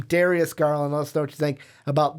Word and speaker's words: Darius Garland: about the Culver and Darius garland not Dario's not Jarius how other names we've pronounced him Darius garland let's don't you think